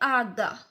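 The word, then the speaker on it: agá: जे गे एच अच्छा एच जो है वो पोर्तुगीज में है वो साइलेंट है तो एच को हम लोग जो पोर्तुगीज में बोलते हैं वो कहते हैं आगा आगा आगा इन पोर्तुगीज वी से ई टू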